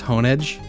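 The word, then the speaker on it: Honedge: It's not hon, it's honeage. Unless it is and I'm the wrong one, in which case that's a bad name. But like it's it's a blade. You hone the edge of it.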